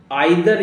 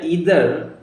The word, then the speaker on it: either: Okay, next है हमारा अब आइदर या ईदर, ठीक है। इसका प्रयोग कहाँ पे होता है? भी के लिए। आइदर या ईदर इसको बोला जाता है, कोई भी आप प्रोनाउंसिएशन कर सकते हैं इसको सदैव हम लास्ट में ही इस्तेमाल करते हैं।